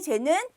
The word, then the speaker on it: 재: 그러나 앞에 재는 턱을 밑으로 내린다는 생각으로 재.